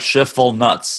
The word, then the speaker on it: Schiefelbein: Just like Schiffel nuts. Schiffel nuts. Schiffel nuts. It's 3 syllables.